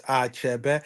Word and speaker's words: Achebe: It's Achebe. It actually means Ani Chebe. Ani is land, and before we all became Christians, of course, Ani loomed large as one of the goddesses, right?